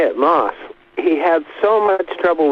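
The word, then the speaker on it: Maus: and that was John Walker how do I pronounce his real name mouse was it right I'm glad you brought it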